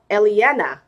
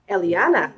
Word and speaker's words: Eliana: Okay, Elena, my name is Hebrew, and it's pronounced, and the pronunciation of my name actually sounds like Elia. Oh, Eliana. Eliana.